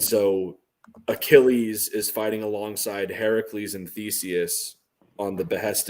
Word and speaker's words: Heracles: Do you say Heracles like a good Greek nerd, or do you say Hercules like an American? Say Heracles like a good Greek nerd, and I spell it Herakles in the with books.